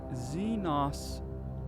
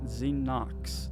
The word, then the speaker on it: Xenos: not Zen Knox. There's not an X at the end after the O. And even for saying it's, you know, British English, proper English, it's still the wrong pronunciation cuz you've said Xenos before.